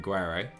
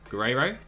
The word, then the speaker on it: Guerrero: Yeah, Bogan, I can't make that R sound. The rolling R. Can't say it. Guerrero?